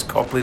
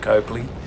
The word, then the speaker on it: Copley: great ride from Copley I've been saying it wrong it's Copley not Coakley we left Copley and